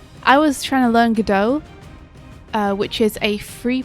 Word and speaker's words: Godot: how'd you spell it g-o-d-o-t go dot i think it's pronounced godot did we ever get